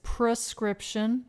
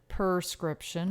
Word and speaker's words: prescription: who say film okay it's prescription not perscription i knew that one